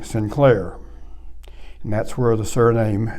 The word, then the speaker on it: Sinclair: and his name was saint claire to say it in clear english the irish didn't pronounce it that way they pronounced saint as sin and they called him sinclair and that's where the